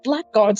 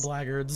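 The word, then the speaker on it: blackguards: To think that I could eliminate all of these black guards at once. Blackards. I might be the mightiest hero that it says black guards. I know, but it's pronounced blackards.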